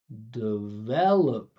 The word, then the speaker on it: develop: Listen to this. Duh. Du duh. Not de. 99% of you gonna say de. That's not easy to understand. I'm gonna say develop.